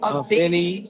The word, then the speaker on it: Avini: Avini Health.